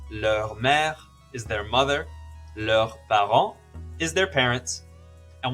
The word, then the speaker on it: leurs: When it's a group of people, it's still leur, but with a silent S. For example, leur père is their father, leur mère is their mother, leurs parents is their parents.